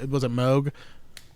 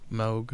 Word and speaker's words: Moog: The was it Moog? Is that correct? Moog. I don't know the correct pronunciation.